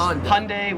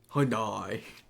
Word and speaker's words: Hyundai: Just make it like two syllables like Hyundai. Australians three syllables hyundai.